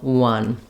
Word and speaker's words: one: spelled that way and when we pair fun with one we can use that rhyme and that spelling to help us uh correctly pronounce the number one uh then okay for